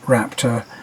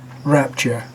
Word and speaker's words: Raptor: Now, when you go from that and you climb up and into a Ford Raptor, here's a funny little aside. Beth mispronounces Raptor as Rapture, and I gotta say that when I sat